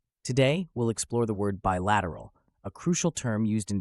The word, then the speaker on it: bilateral: discussing Global cooperation and Partnerships let's start with pronunciation bilateral is pronounced as by lat Ur rule break